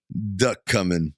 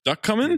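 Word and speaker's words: Ducommun: you run now that how do you pronounce it duck coming duck coming that's a duck that's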